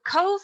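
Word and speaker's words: Cobh: carpage but the bh in irish australia is pronounced as a v so cove was previously known as queenstown and it was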